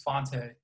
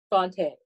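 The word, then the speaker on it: Fante: pronounce his first okay how do you pronounce this f-a-n-t-e i pronounce it the pretentious way which is fonte fonte all right fonte bukowski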